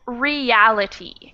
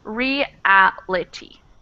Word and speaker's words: reality: word here is reality it changes the pronunciation because when we say real we've just got one vowel sound and really is again just one vowel sound but when we change it to this we come out with we pronounce both the e and the a so it becomes reality reality exactly okay and the